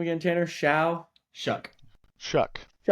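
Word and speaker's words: Shough: How do you pronounce that guy's name again? Tanner Sha. Shuck.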